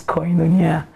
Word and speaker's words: Koinonia: The name again, I've been trying to pronounce it. It's Koinonia.